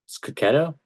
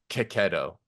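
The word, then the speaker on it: Checchi: I realized I learned I've been pronouncing Marco keto's name wrong ketto someone someone commented on my YouTube video recently and like said he's like they were like I'm Italian this is how you pronounce Marco's name and it's and he said like it was like ketto huh I didn't know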